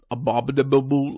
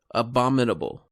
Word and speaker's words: Abominable: surprised that you'd like a babadoo boo like you pronounced it no there's no tea in there abominable abominable there you go perfect had a